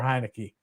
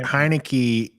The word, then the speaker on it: Heinicke: he's gonna point out that heinecke three syllables Jacoby three syllables so